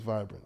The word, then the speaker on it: VIBRENT: I changed the A to a E because phonetically I say vibrant. It's vibrant, yeah.